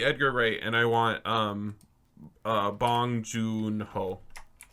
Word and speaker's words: Bong Joon-ho: So delete Edgar Wright, and I want Bong Joon-ho. Bong Joon-ho. Joon-ho is 1. It's June spelled with a J. Hyphen Hoon.